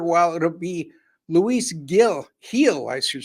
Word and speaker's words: Gil: the veteran left-hander while it'll be Luis Gil heel I should say going for the New York Yankees I always want to say Gil because that's how it's G but is pronounced heel so uh forgive me for the mispronunciation but